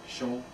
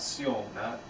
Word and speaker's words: Shong: So if it's pronounced as a sh, then we're going to go with the sh. Shong. So that's the correct way to pronounce his name. Shong. Not Sion, not Sion, but Shong.